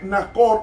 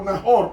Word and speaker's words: Nahor: De Reú viene Nacor o Nahor, como se pronuncia en el hebreo.